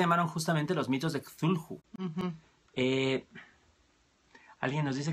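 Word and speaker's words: Cthulhu: justamente los mitos de kulhu mm eh alguien nos dice que lo que los españoles lo pronuncian kadul eh podría ser pues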